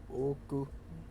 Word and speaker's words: 置く: finger at regular intervals, the word oku would have 2 beats, oku, while oku would have 3 beats, oku. In fact, we can literally say that the latter is a 3-syllable word.